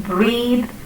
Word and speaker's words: breathe: In breath, breathless, and breathe, the TH is pronounced differently. In breath or breathless, the sound is th, and in breathe, it is the.